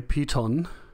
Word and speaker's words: piton: So apparently it's from French piton, aka mountain peak. Okay, piton is the quote-unquote English pronunciation.